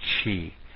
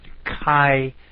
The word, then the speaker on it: chi: want to call it Chi some like Chi like a chipet or some other way but Kai is the way it should be pronounced so I'm trying to